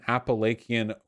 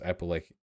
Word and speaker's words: Appalachian: If you're a fucking American Appalachian white miner, you are infinitely closer to some undocumented immigrant pulling weeds in a field than you are to Donald Trump.